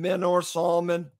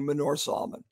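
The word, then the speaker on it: Manor Solomon: on the right and Men or Solomon on the left and I said it wrong it's actually Menorah Solomon okay before I share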